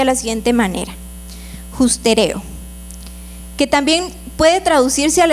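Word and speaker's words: ὑστερέω: Y esta palabra de destitución en griego es una palabra que se pronuncia de la siguiente manera: justereo, que también puede traducirse al español como que al hombre le falta alcanzar algo.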